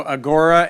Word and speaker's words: agora: So Agora, Agora, consulting.us, and in about 15 seconds, tell us where the word Agora came from. Oh, so Agora is the Greek word. It's actually pronounced agora.